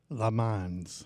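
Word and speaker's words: Lemondes: Davey, how do you pronounce his name? Lemans.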